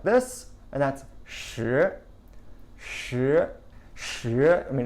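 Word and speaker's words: 十: like a stone and stone and the number 10 sound exactly the same in Mandarin sure sure sure that said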